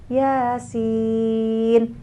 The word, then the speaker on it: Yasin: kita enggak pernah dengar kalau bacanya Yasin y-nya dua harakat yasinnya itu bisa 4at sampai 6 harakat kan bisa jadi kita bacanya Ya A A A si I Iin ya Salah bacanya Maka jangan baca